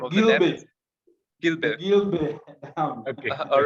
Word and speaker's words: Gibe: Gilbe.